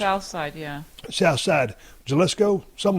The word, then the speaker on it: Jalisco: Oh, an Jalisco? H? Jalisco. But it's pronounced, but it's spelled with a J.